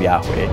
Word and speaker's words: Yahweh: In the Bible, only the four consonants are mentioned, YHWH, and scholars now fill it out to say that Yahweh is the best pronunciation.